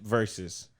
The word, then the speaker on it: Verzuz: Escape versus. The Ford Escape versus the Ford Edge. No, Escape is spelled off. XSCAPE. All right, hold on. And then versus is spelled VERZUZ.